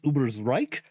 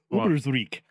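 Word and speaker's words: Ubersreik: of our notes but technically the pronunciation is uber's reich but i'm not going to complain to you because uh it is canon that the skaven have been known to pronounce it uber's reek there you go i don't play skaven you get a you gotta buy for being skaven but yes technically uh uber's reich should be the pronunciation of that uh anyway yeah at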